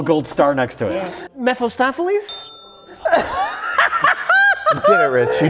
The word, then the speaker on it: Mephistopheles: Mephistopheles? Yeah. What? What's his name? Mephistopheles? That's not right. That's not right. Try again. Mephistopheles?